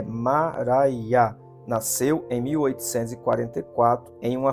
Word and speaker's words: Maria: Maria, cuja pronúncia é Mará, nasceu em 1844 em uma fazenda de Lisbon, Ohio.